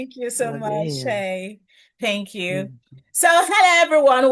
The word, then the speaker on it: Shae: So, Shay, before we go so deep, uh, permit me, am I pronouncing the name properly?